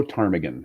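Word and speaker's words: ptarmigan: what is yeah yeah the p is silent the willow tarmigan is our state bird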